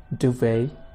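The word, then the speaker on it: duvet: Need one more डुवे, डुवे। यहाँ पर T silent है, यानी ये लिखा तो होता है, आप इसे पढ़ोगे नहीं और आपको सब्जेक्ट कहने की ज़रूरत नहीं।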